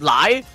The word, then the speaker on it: Lei: Lei is also pronounced as lie like chai too.